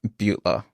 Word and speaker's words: Beutler: Am I pronouncing it right? Beutler.